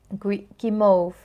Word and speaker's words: guimauve: Guimauve.